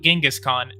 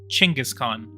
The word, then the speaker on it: Chinggis Khan: is called chingus khan not genghis khan chinggis khan which is actually how you say it in mongolian um so watch um